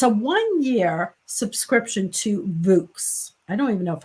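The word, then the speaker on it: Vooks: one year subscription to vux i don't even know if i'm saying that it's v-o-o-k-s and i'm assuming it rhymes with books so voice it's probably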